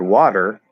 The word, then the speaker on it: water: So, like for example, in the word water, which fits your question, it's ah. That's just how the word is pronounced. It's spelled W-A. It could be spelled like this because the letter O is also commonly pronounced ah, but we happen to spell it with an A for whatever historical reason.